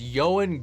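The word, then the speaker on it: Ioan: Yan yanan Griffith that is yoan Griffith at least most of the first name is is correct or at least I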